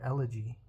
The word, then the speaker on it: elegy: It's called England, an Elegy. I think that's how you pronounce that word, elegy.